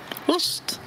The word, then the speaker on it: ost: Mais le fromage, Ost. oust.